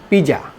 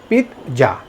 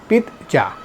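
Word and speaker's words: pizza: আমরা কি বলে থাকি পিজ্জা পি I double Z এ পিজা কিন্তু এটা সঠিক উচ্চারণ না এটার সঠিক উচ্চারণ হবে পিতজা পি আই জেড জেড এ বা পি আই ডাবল জেড এ পিতজা তাহলে আমরা আজকে থেকে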